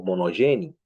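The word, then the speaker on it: μονογενής: La palabra, interesantemente, es la palabra monogene o monogeni, ¿ok? La palabra depende de la pronunciación griega, si es erasmiana o reucliniana, ¿ok?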